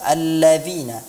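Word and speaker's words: الَّذِينَ: ayyuhannas yay nah saat mengucapkan huruf-huruf Zal itu keluarnya adalah di ujung lidah di ujung gigi seri bukan di belakang gigi seri kalau dia diucapkan dagang gigi seri maka kedengarannya Ya ayyuhalladzina seperti Huruf dan jadi ujung lidah kita menyentuh ujung gigi seri atas alladziina alladziina ya ayyuhalladzina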